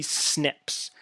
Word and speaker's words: SNP: are differentiated by three snips this SNP there that you pronounce it you say snip and that stands for a single nucleotide polymorphism so poly right here